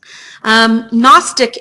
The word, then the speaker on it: gnostic: Gnostic area, so the G is silent.